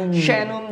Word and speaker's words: Shanum: Shanum Julak 2. Dia harus Shan pakai sya dia Shin. Shin ya.